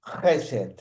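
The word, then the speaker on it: חסד: H e s e ded la h es sonora, no es una h muda como en castellano. Es una J muy fuerte, es muy cultural. Jes sería la pronunciación.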